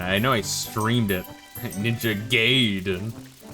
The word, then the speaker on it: Ninja Gaiden: Ninja Gaiden. Ninja Gaiden. Hoi! Always remember, that's how it's pronounced.